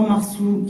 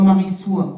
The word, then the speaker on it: Marissoa: Moi mon prénom s'écrit Marissoa, mais il se prononce soit Marsou, soit Marissoua, soit Marchou, soit Marichou. Donc à chaque fois que